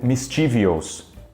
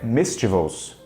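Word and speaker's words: mischievous: induz a erros e muita gente acaba tentando pronunciar isso daqui como mystivels só que na verdade a pronúncia certa é neste vosso então isso aqui a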